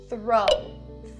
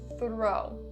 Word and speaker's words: throw: For the pronunciation, we're going to look at the first word, throw. Throw. Make sure that you're doing that voiceless TH sound correctly. Only air, don't make it throw. Not correct, that's the voice.